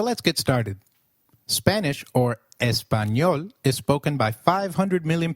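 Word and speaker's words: español: The letter A is pronounced as a as in father. Did you notice the letter in espanol? This letter is peculiar to Spanish. It is pronounced as ni like in canyon.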